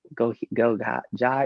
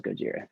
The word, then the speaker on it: Gojira: I feel like Gojira kind of struggled with that too when people started seeing their name years ago, like go Ja, you know, it's like, but now everyone knows Gojira.